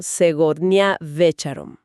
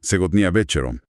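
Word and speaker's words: Сегодня вечером: Esta noche, que bueno, en ruso se pronuncia algo así como Segotnia Becharom. Ajá. Segnia Becharom.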